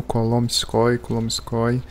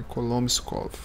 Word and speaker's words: Kolomenskoye: Pessoal, eu tava falando Kolomskoy, e aí eu fui ler o nome em russo e eu vi que eu estava falando a pronúncia do local errado. É Kolomskov, mas nunca é tarde